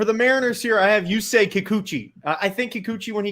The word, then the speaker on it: Yusei Kikuchi: Yusei Kikuchi.